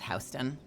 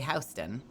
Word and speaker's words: Houston: Soho and Nohoo, which is north and south Hston, which is spelled Houston, but in New York, you say Hston.